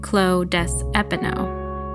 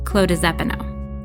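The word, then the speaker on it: Clos des Épinots: When there's an S in the word that comes before a vowel, such as des Epinots, you pronounce the S like a Z. So instead of saying Clos des Epinots, you say it all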